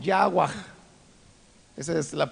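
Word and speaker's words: חַוָּה: nombre de eva ahora eva en el hebreo se pronuncia de manera muy diferente algo así como agua esa es la pronunciación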